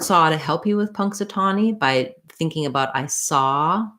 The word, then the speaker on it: Punxsutawney: easier for you to do tommy versus tawny it won't matter too much in this word and then lastly e y just has the e sound so i would build this from the stressed syllable trying tani satani punxsutawney you can also try one syllable at a time slowly and then build up your speed so that would sound like punk satani punk satani punxsutawney then next looking at